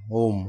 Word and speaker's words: ওম: ওম ওমকার, শুদ্ধ উচ্চারণ ওম।